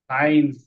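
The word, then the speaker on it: science: এসি আই এন সি সাইন্স এ পুরাটাই হবে সাইন্স সাইন্স এটা হবে সাইন্স সাইন্স ঠিক আছে এটা জাস্ট মনে রাখো সাইন্স মানে এই এসসির এখানে সাউন্ডটা হচ্ছে আইনস আইনস সাইন্স এরপরে দেখো এটা বড়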